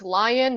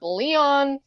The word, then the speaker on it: Lion: It's Lion, not Leon.